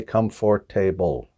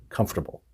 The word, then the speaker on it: comfortable: you hear the problem it's the word comfortable we don't pronounce all the syllables in there we don't say come for table we don't we say comfortable all right all right